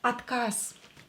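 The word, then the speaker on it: отказ: a voiced consonant is located at the end of the word we will it will become unvoiced so there is voiced it will become unvoiced s atkas at cars this is how we will pronounce this word and atkas means refusal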